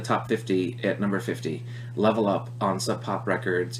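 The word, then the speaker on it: LVL UP: It's a band called, I'm assuming, LevelUp, even though they spell their name kind of funny with an LVL. Pretty sure it's pronounced Level Up, and they had the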